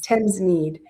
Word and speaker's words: Thamesmead: Am I pronouncing that right? Thamesmead? Yes. Thamesmead, which is one of London's most diverse communities.